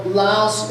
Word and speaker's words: Laos: you hear me speak sometimes I'll say Laos sometimes I will say loud because in the loud language there is no sound at the end of a word so Laos is an international term loud the people of Lao the country of Lao is the local term so I've been there